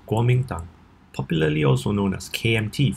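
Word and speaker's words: Kuomintang: today I'm going to show you how to pronounce Warmington popularly also known as KMT for short the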